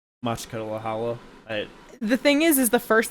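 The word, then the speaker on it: Makhachkala: It's Machkalahala. The thing is the first time I ever saw it, you called it Makala Chakala, and that's the only thing I can ever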